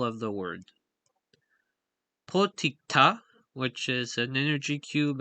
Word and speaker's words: potikta: his videos, is and this word, the stress is put on the last syllable, as it's in the foot on the right.